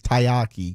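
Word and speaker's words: taiyaki: San Jose Sharks have a chum bucket and shark cone tayyaki. And I say it's tayyaki because that's how it's spelled.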